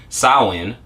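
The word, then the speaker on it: Samhain: comes from the old irish for summers in saowin okay it's pronounced win was the first and most important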